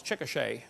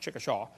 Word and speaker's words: Chickasha: textbook still has it 2005 textbook and i pronounced it wrong as chickasha not chickasha chickasha oklahoma i got corrected during the break uh